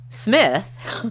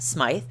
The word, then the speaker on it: Smyth: woman named Judalon Rose Smith, pronounced Smith because it's spelled S-M-Y-T-H, so it's Smith, not Smythe, was living out her